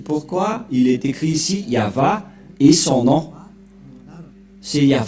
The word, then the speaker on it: Yahvah: du grand-père Moché ne pêch point le nom prononcé par le grand-père Abraham c'est yava et le nom initial de ce Dieu c'est ya voilà c'est pourquoi le nom du dieu d'Abraham c'est ya yava et ceux qui ont prononcé ce nom sont